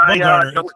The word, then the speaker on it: Bumgarner: I don't know how to pronounce it. Yeah, it's Bumgarner.